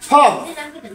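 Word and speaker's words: folk: আমরা সবাই খেয়াল রাখবো যে কোনো শব্দের শেষে যদি KFM থাকে, তার আগে লেটার যদি এল হয়, তখন এল সাইলেন্ট হয়ে যায়। কাপ, হাফ, কাম, ফক, এইরকম অসংখ্য লেটার বইয়ের মধ্যে অসংখ্য লেটার লুকানো আছে।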